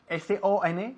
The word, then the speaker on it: son: S-O-N, que se pronuncia exactamente igual que la palabra S-U-N, que significa sol.